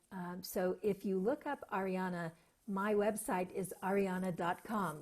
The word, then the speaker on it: Ahriana: H at the beginning so it is not Ariana it's Arianna Nonna and so if you look up Arianna my website is Arianna